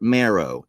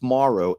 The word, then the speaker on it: Morrow: They even spelled my name wrong. Marrow. Marrow. That's fine. That happens a whole lot. It's Morrow. Morrow.